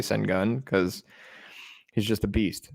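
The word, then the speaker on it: Şengün: hour and a half i don't care if it's pronounced sengoon i say send gun because he's just a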